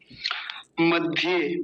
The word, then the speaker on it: मध्य: लेकिन आज है उत मध्य मघ नहीं है मध्य है थोड़ा फंट में समस्या है इसमें मध्य है मध्य